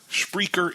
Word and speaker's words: Spreaker: Spreaker is spelled SPREAKE. Aura. Again, it's speaker with an aura in the middle.